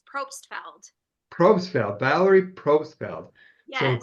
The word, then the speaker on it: Probstfeld: Now, Valerie, am I pronouncing your last name correctly? It's Probstfeld.